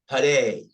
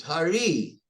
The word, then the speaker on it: Hare: Krishna. Hare. It's Hari.